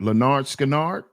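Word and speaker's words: Lynyrd Skynyrd: Listen to listen to that smell by Leonard Leonard Skannard. Leonard Scannard. That's how you pronounce that, Bob.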